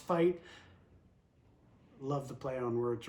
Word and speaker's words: FEIT: fight f-e-i-t footwear okay i thought it was feet i thought he was misspelling feet f-e-i-t i read that as feet apparently it's pronounced fight love the play on